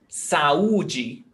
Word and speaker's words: saúde: Saúde. You listen very clearly. Saúde. It's not saúde.